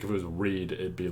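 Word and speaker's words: Reid: on a certain character, they pronounce the name as Reed. And I'm like, I don't know that's how you pronounce his name. Maybe I'm the wrong one. But like, I don't know. I always saw his name and I'm like, nah, that looks like Raid.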